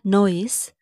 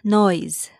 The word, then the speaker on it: noise: It's not noise, it's noise. Noise, not noise. The ending sound is z sound, not s sound.